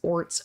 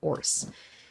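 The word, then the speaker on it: orz: despair dejection or frustration there's no set way to pronounce it and such people may pronounce it as ORS or or orse I really didn't want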